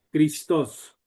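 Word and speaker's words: Χριστός: Algunos lo pronuncian como Cristos, Cristos. Christos. Esto está mal, Ah, porque el valor es chi, Cristos.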